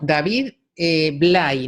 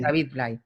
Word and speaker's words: David Blay: David Blay, ¿no? Se escribe Blay, sí, David Blay. B-L-A-Y, ¿no? Exactamente. David Blay.